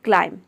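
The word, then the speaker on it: climb: चढ़ना यहां पर देखिए बी लेटर साइलेंट है क्लाइम में जो लास्ट में बी लेटर आता है व साइलेंट रहता है केवल हम प्रोनाउंस करते हैं क्लाइम क्लीन का मतलब होता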